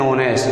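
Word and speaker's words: honest: ये चालू तो व्यंजन से है, लेकिन इसका उच्चारण होनेस्ट, ऑनेस्ट को अपन पढ़ते हैं तो इसका उच्चारण हिंदी के ओ के समान है। Ramu is एन ऑनेस्ट।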